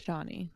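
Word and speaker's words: Chani: I think does love Chie or is that her name did I say that right shaie I think is it shaie that's it I think it's spelled with a CH but it's pronounced sh yeah yeah so that's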